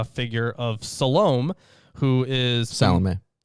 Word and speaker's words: Salome: Salome. Salome, is that how you pronounce it? Yeah.